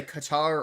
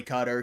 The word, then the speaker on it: Qatar: The reason I know it, you know, this is people say Qatar or Qatar. It is actually cutter.